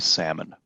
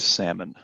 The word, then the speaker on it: salmon: the lifecycle of a salmon and there's a pronunciation note the L is silent what do people liked smoked salmon you order salmon at